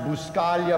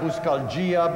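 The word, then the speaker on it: Buscaglia: everybody and so i it's pronounced buscalia buscaljia baskaglia buscalooza even spaghetti i mean that's the truth and it doesn't matter to me as long as you call me something and i've enjoyed all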